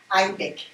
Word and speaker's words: Aïdek: Aïdek. C'est comme Québec. Hein, on aime ça, hein? Aïdek et Québec.